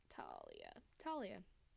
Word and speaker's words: Talia: Emily broke up with Talia rhymes with Alia.